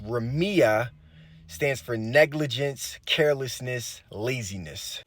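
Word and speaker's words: רמיה: so the Hebrew word for slack which is pronounced Remia stands for negligence carelessness laziness and then the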